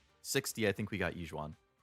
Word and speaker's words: Yixuan: Yixuan, not Yixuan. Yixuan. The Y is silent.